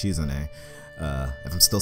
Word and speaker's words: Shizune: I was saying Shizune, but apparently it's Shizune.